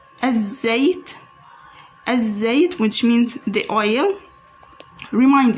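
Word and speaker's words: الزيت: So we have the first word, az-zayt, az-zayt, az-zayt, which means the oil.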